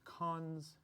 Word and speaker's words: cons: we pronounce this is nil double colone we pronounce cons and this is like not cross list to